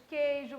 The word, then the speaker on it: queijo: QU e GU quando o U não é pronunciado.